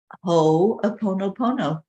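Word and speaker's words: Hoʻoponopono: think that's it um and it's just it's pronounced ho opponopono and it's an old Hawaiian teaching wisdom that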